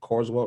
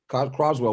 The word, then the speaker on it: Croswell: And then, obviously, you mentioned, but don't forget about, was it Carswell? No, how do you pronounce his last name? The big, Croswell, who came from LaSalle.